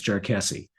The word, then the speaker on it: Jarkesy: It rhymes with messy. So if you want to sound smart in front of your friends when you're talking about SEC Supreme Court cases, it's Jarkesy.